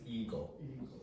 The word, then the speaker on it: ego: And the pronunciation of this word is ego, not ego. Okay, ego.